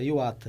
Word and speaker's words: Iwata: o meu nome se pronuncia-se Júbilo Iwata, igual o time japonês, o Júbilo Iwata.